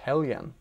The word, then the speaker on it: Helgen: Did you know that Helgen is apparently pronounced Hellyan?